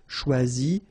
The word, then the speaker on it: choisi: Okay, same rule, you don't pronounce them. So phonetically, you will have choisi, choisi, choisi, choisi, choisi, choisi, choisi, and choisi. So the same phonetical form, okay?